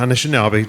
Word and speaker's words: Anishinaabe: talk is called, this is a tough one, Anishinaabe? How do you pronounce it? Anishinaabe, yeah. Anishinaabe, Drumming and Visual Art, Engagements and Influences.